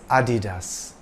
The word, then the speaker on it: Adidas: part of his surname it's not pronounced Adidas or Adidas it's Adidas dasler got American Sprinter